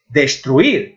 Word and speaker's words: destruir: Destruir é a mesma coisa, a vocal forte está na I.